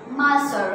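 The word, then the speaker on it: Monsieur: Word use करते हैं, एंड इट is pronounce as मासर। Okay, मासर एन को साइलेंट में रखेंगे, मासर।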